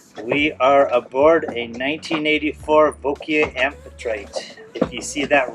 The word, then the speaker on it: Wauquiez: our boat tour we are aboard a 1984 V amphitrite if you see that written it looks like it says wys but the correct pronunciation is V and it's raining again we've been trying to